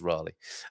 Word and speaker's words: Raleigh: I think it's Raleigh.